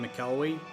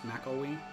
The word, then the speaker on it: McElwee: that mc lwe i was saying mikelwee which is wrong that's mackowie all right a ton